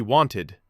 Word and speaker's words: wanted: He wanted two beats at the end.